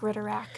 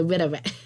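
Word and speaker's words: Ridderak: Weird marks sound suspiciously like Ritterak in my head.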